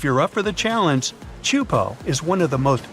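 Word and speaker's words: Teahupo'o: It's pronounced Chupo, and it means broken skulls in Tahitian. Yeah, you heard that right, broken skulls. The waves at Chupo are massive and can reach up to 23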